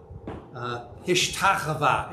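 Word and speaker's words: השתחוה: Hishtachava is how it would be pronounced in its usual form found in the Old Testament.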